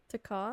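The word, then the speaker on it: Te Kā: Taka taka. Really? I was like those are two syllables.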